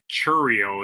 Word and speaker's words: Chourio: Murphy told reporters before Pronounces his Friday's name game wrong. Churio is he his was name, not diagnosed a Chowio.